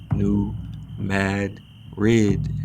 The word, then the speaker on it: New Madrid: the Spanish Capital but now pronounced defiantly and definitively new Mad red Real Madrid let's get